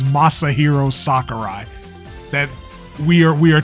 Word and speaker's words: Masahiro Sakurai: do this weird thing where you pronounce his name massive hero soccer guy his name is Masahiro Sakurai that we are we